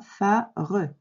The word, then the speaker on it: phare: Voilà, à l'écrit, on a bien les 2 syllabes, phare, mais à l'oral, on ne dit pas phare, on dit phare.